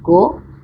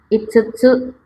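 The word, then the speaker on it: 五: Untuk cara baca lainnya yaitu yotsu, yang artinya 4 buah. Kanji berikutnya yaitu kanji go, kanji 5, atau dibaca itsutsu, artinya 5 buah.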